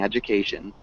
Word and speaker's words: education: can you repeat education so remember that ju sound at the beginning education education close you're saying it with just that straight d education it's got an ad you ad you okay education nice education